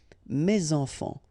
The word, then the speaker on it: mes enfants: Enfant, children is starting with a vowel, so you should make the liaison mes enfants, mes enfants.